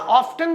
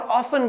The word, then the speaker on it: often: हाँ, ऑफ्टन भी यूज कर सकते हैं और ऑफन भी यूज कर सकते हैं। कई सारे वर्ड्स के दो प्रोनाउंसिएशन आप डिक्शनरी में आगे चेक करोगे तो मिलेगा।